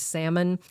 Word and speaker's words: salmon: stupid easy things like what's the silent letter in the word salmon up to harder ones like